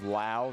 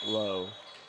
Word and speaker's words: Lau: Now, I'm learning that it may be Briggs Lau, not Low. Yeah, the halftime senior night, they pronounced it Lau.